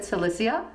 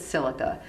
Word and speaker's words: silica: some people pronounce it cissa and some people pronounce it silica silica is an incredible